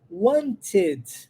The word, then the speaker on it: wanted: Wanted é a pronúncia correta, bonitinha, mas como é que eu falaria isso naturalmente? Wanted. Posso omitir o som do T, lembra? Omito o som do T, linko o N no E.